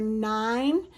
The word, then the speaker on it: nine: Now, here's two things that have a silent e at the end of their word. Do you see that number nine? The way you spell it is with a little silent e at the end. And same with the word cake. At the end of the word cake, there's a silent e. It doesn't make a sound in that word when you're reading it.